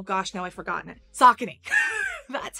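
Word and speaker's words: Saucony: for these are socony and yeah it is pronounced sakon I thought it was zakone or Sony or a bunch of other things but it's oh gosh now I forgotten it socony that's how you say it somebody's still going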